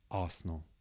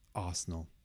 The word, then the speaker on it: Arsenal: in this case got Arsenal is two sounds or two syllables personal Arsenal and the stress the biggest sound is on the first one Arsenal Arsenal it's not Arsenal or anything like that just Arsenal Arsenal second one we've got